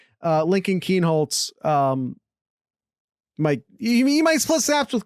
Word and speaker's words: Kienholz: Of course, then again, maybe Lincoln Klein, Kienholz. I always mispronounce his name. Lincoln Kienholz.